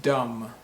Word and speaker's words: dumb: to think i'm thinking is it dumb dumb no the b is silent so it's pronounced dumb dumb how about this word